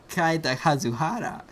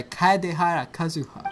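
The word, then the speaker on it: Kaedehara Kazuha: But also, day one, I get hit on by Kaida Kazuhara. I cannot say his name. Kaidehara. I just said Kaida Kazuhara. Wait. The first day, and I get hit on by Kaidehara Kazuha.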